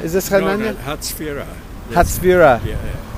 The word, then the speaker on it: Hatzfira: Hatzfira. Yeah. How do you spell that in English? H-A-T? H-A-T-Z, Yeah. Leslie, Hatzfira. Yeah. Hatzafira.